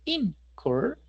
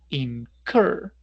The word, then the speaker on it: incur: El acento va en cur, no es incur, sino incur, razón por la cual la última R se duplica, ¿sí?